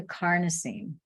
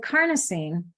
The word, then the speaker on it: carnosine: those antioxidants so with carnosine this supports healthy brain function improves memory and processing time strength stamina and endurance it rhymes with Carney like carne asada like Mexican taco meat tacos so Carney that has